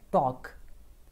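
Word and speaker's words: talk: बात करना बात करना इसमें एल हमारा साइलेंट होता है सो यू हैव तू प्रणाम टॉक नहीं बोलना टॉक नेक्स्ट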